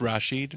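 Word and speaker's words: Rasheed: I'm sorry, Rashid. I got to start saying it right. It's Rashid. It's Rashid. Okay. Has he browbeaten people? Nope. over it? I heard him on the radio pronounce it. It's correctly pronounced Rashid.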